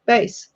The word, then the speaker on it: bass: How do you say it? Bass. Bass. Yeah. Not like the fish. It's a bass.